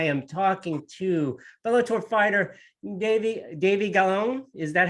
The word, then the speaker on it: Davy Gallon: And this time I am talking to Bellator fighter Davy Gallon. Is that how you pronounce?